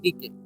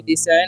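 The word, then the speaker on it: decay: डी के पढ़ना है डी के। ठीक है? डी से आया नहीं पढ़ना है।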